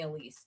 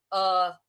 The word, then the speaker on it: Elisa: Most people call me Elise. It's It's said Alisa.